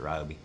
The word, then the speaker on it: Ryobi: It was a Ryobi, or Ryobi, however y'all want to pronounce it. I pronounce it Ryobi.